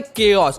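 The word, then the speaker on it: chaos: मतलब क्या होता है केस पहले मैं आपको प्रोनाउंस करना बता देता हूं कि इसका मतलब केस होता है ओस या फिर कुछ नहीं होता है केस होता जैसे कि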